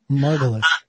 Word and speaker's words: Margolis: Today, I've got Margolis. But am I saying your name correctly, your last name? Margolis. No, you said it right Margolis.